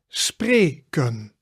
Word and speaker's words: spreken: But the important there is that it's two syllables. Spre, e sound, ken, spreken.